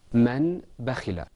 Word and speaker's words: من بخل: This next example is usually pronounced man bakhila. But inshallah, because after the noon we have a ba, we're going to say man bakhila.